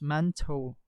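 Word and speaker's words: Mantoux: a n e o u x it is pronounced as manto test it is actually your tuberculin uh test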